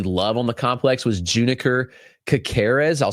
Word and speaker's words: Juniker: The other hitter that I absolutely love on the complex was Juniker Kakarz. I'll spell that out. It's J U N I K E R Juniker.